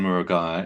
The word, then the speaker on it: Murugiah: Uh Murugiah, if you're interested in pronouncing my surname.